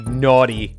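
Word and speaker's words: Gnawty: that's the excuse i'm sticking to it really naughty rampage because it's spelled gn to play on words can we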